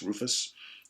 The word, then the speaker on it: Ruphus: So we got Newborn Day from Rufus, that's spelled R-U-P-H-U-S, Rufus, okay, classic sounding prog rock.